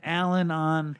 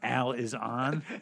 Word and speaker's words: Al-Anon: It's not Al is on. No. The idea is because there's a program. Al-Anon. Yeah, Al-Anon.